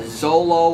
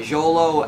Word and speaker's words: Xolo: ever seen a uh i don't know the exact pronunciation that forgive me if i get this wrong it's either like a a zolo or a zolo it's xolo dog is